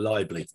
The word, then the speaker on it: Leible: there i pronounce you i think i pronounce your name as libel instead of liable i have forgiven you